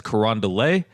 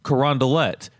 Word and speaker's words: Carondelet: not from the area you might look at the name and think that it's French and you might want to pronounce it as corand but the way that the locals say it is corondelet so iay on the